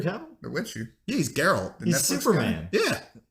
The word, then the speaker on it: Geralt: Did you say Gerald? You thought it was Gerald? No, Geralt. Henry I Cavill. thought it was wrong. a soft G. No, you would be a fool. Yeah, Gerald Way. Yeah. It's Geralt.